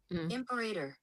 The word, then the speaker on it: Imperator: Pronunciation. Hold on. You guys and your hard vowels. Yeah, here we go. Ready? Imperator.